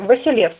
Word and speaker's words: Василевс: Титул византийских императоров произносился только с начальным «В» – Василевс, что показывает происхождение Грозного от византийского императора по мужской линии, что так и есть.